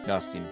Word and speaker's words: Dustin: In my German pronunciation of my name, you say Dustin with an A, but it's spelled by U. Interesting.